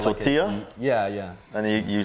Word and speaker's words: tortilla: like you know um in is it in spanish the double l you're supposed to pronounce as a y yeah like tortilla yeah yeah and you